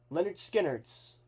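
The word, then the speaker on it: Lynyrd Skynyrd: Leonard Skard's pronounced Leonard Skard.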